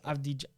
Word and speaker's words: Avdija: It's Avdija. Dennis Avdija. Avdija, yeah, him. We're going to butcher these.